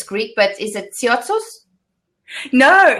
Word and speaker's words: Tsiaousis: Well, the Greek pronunciation is Tsiaousis. But I mean, what I thought. There's always the O is very pronounced.